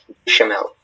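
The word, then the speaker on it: béchamel: Bechamel, am I pronouncing that correctly? Yes, bechamel.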